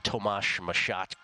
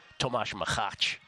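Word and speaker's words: Tomáš Macháč: hope everybody was on tomash mashat yesterday Tomas maach is actually how I pronounce it sorry about that uh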